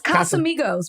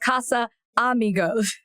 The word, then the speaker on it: Casamigos: It's Casamigos, but you were saying Casa Amigos. Casa Amigos. Hold on. It's Casamigos. Does it mean friends? Does it? Well, a group of friends started it, so probably. Okay, so it's Casamigos. It's Casa. It's not Casa Amigos.